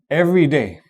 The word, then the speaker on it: everyday: Every day on the other hand, you pronounce only you stress only the first syllable and the second one sort of dives in, right?